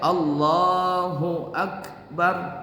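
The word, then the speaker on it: الله أكبر: tadi Hunya enggak kedengaran kan sebenarnya kan bacanya Allahu akbar kan begitu tuh dia enggak Allah akbar Jadi saya tanya kenapa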